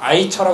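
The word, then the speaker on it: AICHR: 9 인권 위원회가 만들어졌습니다 aic 차려 그보다 아이 차라 그렇게 발음하는 데 여기에서도 이주와 기업 인권을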